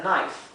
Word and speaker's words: knife: Recuerden que la K con la N, que es una combinación de consonantes que es muy común en inglés, la K y la N, la K no se pronuncia.